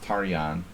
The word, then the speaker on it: Tarjan: to to james tarjan which is actually pronounced taryan it's a hungarian name but he doesn't pronounce it that way tarjan beat kramnik i remember